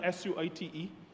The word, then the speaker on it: suite: measures and I use the word I know is spelled s ui t e but the measures are suite sWT.